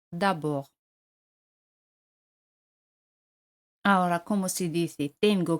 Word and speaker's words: d'abord: D al final no se pronuncia. D'abord.